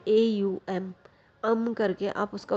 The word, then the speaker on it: ओम: आप बोल सकते हैं, AUM, करके आप उसका उच्चारण कर सकते हैं। मतलब ओम इसको बोला नहीं जाता है, ओम लिखा जाता है, लेकिन करके इसको बोला जाता है।